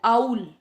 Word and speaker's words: owl: OWL, आउल, आउल means उल्लू। अक्सर देखा होगा हम प्रोनाउंसिएशन रॉन्ग करते हैं, कई आउल, इल्ली, पता नहीं क्या क्या बोलते हैं हम इसे। ओके, तो हम इसको पढ़ेंगे आउल, आउल मीन्स उल्लू, जो